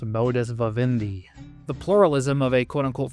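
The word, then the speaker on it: modus vivendi: Hence refacilitating the modus of Indi or well actually it's pronounced modus vavindi.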